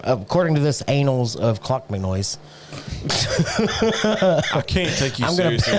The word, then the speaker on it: Clonmacnoise: say this all fucked up, the Annals, which is spelled very, very close to anal, of Clonmacnoise. What? Clonmacnoise. Clan McNoise or Clon? Clonmacnoise.